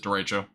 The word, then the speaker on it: derecho: I pronounce it Derecho. People pronounce it Dorito for some reason.